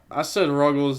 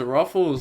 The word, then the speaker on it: Ruggles: Also, I said Ruggles' name wrong the other day. I've been feeling bad about that ever since someone told me. I thought it was Ruffles, like, like the bag of chips.